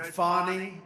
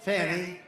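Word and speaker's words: Fani: after another, you had Fonnie, F A N I, which is usually pronounced Fanny. And she added the little action to it. Fonnie.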